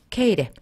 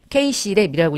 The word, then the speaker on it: KcLep: 전체가 이렇게 해서 70점, 100점이라는 거 그거 참고하시고 우리가 활용하는 프로그램은 이걸 이제 읽을 때는 그냥 K랩이라고 읽어요. 이걸 이제 묵음 처리해가지고 K랩, KC랩이라고 읽지는 않아요.